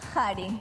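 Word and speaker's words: qari: La Q suena como una J intensa. Hari.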